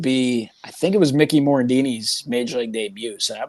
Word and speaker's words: Mickey Morandini: The first one I like remember details of, because I remember going, would be, I think it was Mickey Morandini's Major League debut.